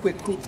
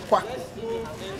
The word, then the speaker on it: Kweku: But the Kweku was corrupted into Kwaku because British couldn't pronounce our local names properly. So instead of Kweku, they said Kwaku.